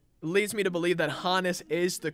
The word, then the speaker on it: Honus: me to believe that if Hans evolved to Hannes that's how you pronounce it you know Hans Hannes I feel like that just leads me to believe that Hannes is the correct way